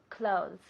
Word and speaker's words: clothes: La TH es suave, pero lo decimos clothes.